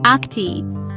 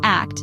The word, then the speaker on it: ACT: Welcome to this video on acceptance and commitment therapy, or ACT, pronounced like the word act, not the letters ACT.